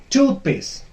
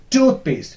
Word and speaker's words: toothpaste: And then we have toothpaste. Toothpaste, not paste. That is wrong. Toothpaste. The first part will be stressed. This is also a compound word.